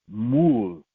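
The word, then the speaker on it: מול: The first one is pronounced mul, like a M-U-L, right?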